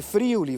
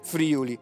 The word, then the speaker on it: Friuli: Ah, Belluno, dicono immancabilmente, è in Friuli, vero? E invece non è vero niente, perché non si dice Friuli, ma Friuli, con l'accento sulla U, e soprattutto perché Belluno non si trova affatto in Friuli.